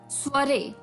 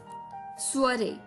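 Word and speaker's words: soirée: है, ये एक अटपटा सा वर्ड है, स्पेलिंग कुछ और है, प्रोनाउंसिएशन कुछ और है, स्वरे। स्वरे, जी हाँ दोस्तों, स्वरे, SOIREE, स्वरे, SOIREE, स्वरे।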